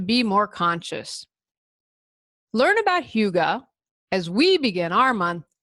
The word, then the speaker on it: hygge: pronounce, hygge is spelled Hygee. I would have never guessed that hygge is how you pronounce that. I would have said hygee.